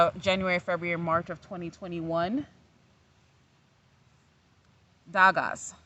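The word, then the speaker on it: Dagaz: February, March of 2021, Dagas. So I think it's pronounced Thawaz. Like the D is actually a TH.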